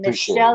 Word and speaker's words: Michel: And Michelle is here. And again, it's a guy, and his name is Michel. Michel Champagne. It's the French pronunciation.